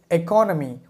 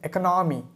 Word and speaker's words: economy: And the last word on my list is economy, but I used to call it economy.